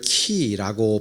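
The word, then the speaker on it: χ: 이게 헬라어에서 온 건데 헬라어에서는 이걸 키라고 발음을 합니다.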